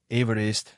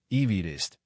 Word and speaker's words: Everest: व्युत्पत्ति संबंधी स्रोतों के अनुसार पहाड़ का पश्चिमी नाम अक्सर एवरेस्ट या इवरेस्ट के रूप में गलत उच्चारण किया जाता है। जबकि सर जॉर्ज एवरेज के उपनाम का उच्चारण ईवीस्ट ए।